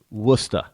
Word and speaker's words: Worcester: Now, if you're looking on the map and you're not from New England, then you'll never find Worcester. It's actually spelled W-O-R-S. How they pronounce it is Worcester.